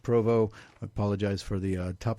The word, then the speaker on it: Provost: Just do a search for Aces of Northern Nevada, Dragon Crown Books, or H. Provo, which is spelled Provost.